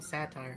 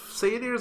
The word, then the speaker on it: satyr: Yeah, Yeah, satyr. satyr. I mean, like, you used to call him satire. It's fine. you know. Yeah. Now I know how to pronounce it.